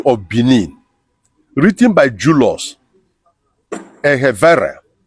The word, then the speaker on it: Egharevba: A Short History of Benin, written by Julius Ehevere. Ehevere is spelled Egharevba.